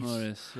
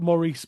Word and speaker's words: Maurice: Maurice, you know. So I think it's it's it's spelled Maurice but you don't say it with a French accent.